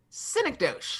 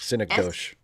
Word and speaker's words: synecdoche: I look at it and I see synecdoche. Synecdoche. It looks like DOC, doche, like synecdoche. Yeah. And I don't remember who I think I was talking to one of the other English teachers. She's like, I thought it was synecdoche.